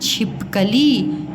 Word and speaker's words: छिपकली: छिपकली और ये है छिप छिप कली ये है बेटा छी और ये है छी छिपकली और ये है छिपकली तो क्या बोलते हो आप छिपकली है ना छी छी छिपकली छिपकली खिलाड़ी खिलाड़ी बोलते होग